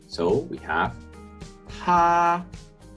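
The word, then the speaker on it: 她: Here we have the radical for woman, but the pronunciation is the same as he. So we have 他他 Then we have the plurals.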